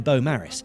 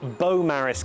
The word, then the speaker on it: Beaumaris: Welcome to Beaumaris Castle, often pronounced as Beaumaris Castle, and it's famous for being a castle that was never quite finished.